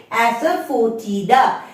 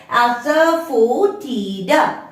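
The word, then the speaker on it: asafoetida: আসছে হিং হিং টাকে আমরা কি বলি ইংলিশেতে অ্যাসারফোটিডা এন্ড you have to break S এফ ও ই ফো টি আই ডি এ তাহলে কি হলো প্রোনাউন্সিয়েশনটা অ্যাসারফোটিডা নেক্সট চক্রফুল স্টারনাম থাকে না এরকম তারার মতন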